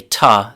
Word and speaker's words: to: It's actually a lot more common to say tuh than it is to say to.